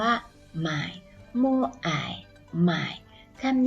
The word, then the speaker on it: 买: คะ คำ คำ นี้ ออก เสียง ว่า หมาย moai มาย ทำ นี่